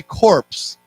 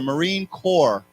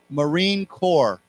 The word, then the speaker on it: Marine Corps: a reminder this word we do not pronounce the P we don't say corpse we say core CEO like cor okay